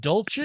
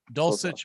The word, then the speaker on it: Dulcich: Bobby are you going is it Dolce is that how it's pronounced sausage and something like that yeah you're close dulcich okay Greg dulcich or